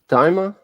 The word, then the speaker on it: Daima: Like Dragon Ball Daima. Daima?